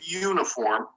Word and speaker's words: uniform: But in the case of uniform, we've got that y, which is really a consonant sound, even though it's spelled with a U.